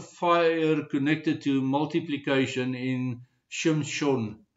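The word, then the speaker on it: שמשון: Um and uh Samson's name Shimson in Hebrew is spelled shin mem shin vafnun sufit.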